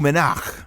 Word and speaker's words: Le Monarque: However, it is in the form of a new exotic bow, and I believe it's pronounced the MONARQUE, which is French.